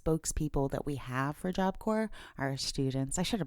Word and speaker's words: Corps: Shiloh sh sh L job cor.gov and remember there's that silent s in job cor because the English language